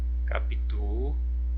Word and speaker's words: Capitu: Olha, o tu é a sílaba tônica da palavra capitu.